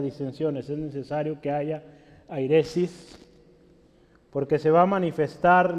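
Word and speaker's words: αἵρεσις: Se voy a escribir cómo se pronuncia en español. Es airesis, con H.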